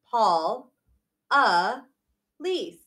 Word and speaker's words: Paula Liz: My name is pronounced Miss Paula Liz.